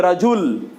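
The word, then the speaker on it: رجلاً: এবং এই জন্যে আপনি যখন ওয়াকফ করবেন তখন হবে রাজুল, রাজুল। কিন্তু এখানে ওয়াকফ করলে কি হবে? রাজুলা। কি হবে? রাজুলা। একটা জবর সেখানে উচ্চারণ হবে, নাইলে অর্থ মানুষ বুঝবে না যে কি কারণে এটা কি হলো।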